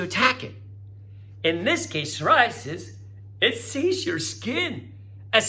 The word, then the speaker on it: psoriasis: Silent P. Psoriasis.